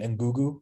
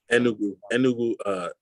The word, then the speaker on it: Enugu: So it was in remind me the pronunciation, Ngugu, right? No. Enugu.